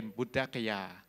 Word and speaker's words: พุทธคยา: อย่าง เช่น บุธ พุทธคยา เขา ออก ออก เป็น บุด กยา ค ควาย ก็ เป็น ก ไก่ พ พาน ก็ เป็น